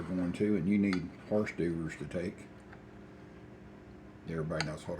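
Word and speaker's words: hors d'oeuvres: to and you need horse doers to take everybody knows what horse diers are at least that's the way it's spelled they don't call it that but it's spelled like horse diers or deres all right start threading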